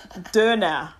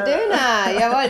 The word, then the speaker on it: Döner: Let's see if I can pronounce this right with the umlaut. Döner. Ah! Döner.